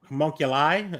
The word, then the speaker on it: homunculi: You just have to say the I. Homunculi?